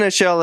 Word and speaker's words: Aichele: Has to Aichele. pronounce his own name. Yeah, but yeah, no, Aichele, everyone.